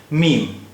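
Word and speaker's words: ميم: नाम है मीम और इसकी इसका उच्चारण हिंदी के मा जैसा है मीम अब आय इससे शब्द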